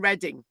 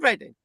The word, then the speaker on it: Reading: And I said, I can't find Reading. And she said, Reading's a big place west of London, right? And the penny drop then that Reading, right, is not spelled EREDDING. It's spelled reading.